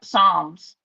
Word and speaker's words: Psalms: Psalms. Oh, that's a P is silent like Okay.